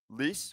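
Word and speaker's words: Lecce: So these and then you go a little further back to December 1st and how do you say it? Lease or Yeah, Lease.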